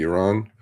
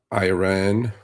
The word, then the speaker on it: Iran: media, it is not Iran, it is Iran. It is not Iraq, it's Iraq. At least pronounce it correctly.